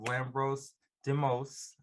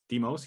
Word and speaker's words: Lambros Demos: We have Lambros Demos. Say it right? Demos, yeah, that's good.